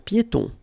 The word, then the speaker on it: piétons: Un passage pour piétons. Un passage pour piétons. Final S here, not pronounced, and then final not pronounced.